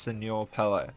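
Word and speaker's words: Señor Pello: Secondly, I pronounced the creator's name incorrectly, which is actually pronounced Senor Pello, who Sure.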